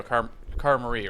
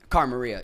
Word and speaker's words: Cara Maria: Because, your partner in this scenario, Cara Marie, right? That's how you pronounce it? Cara Maria, yeah.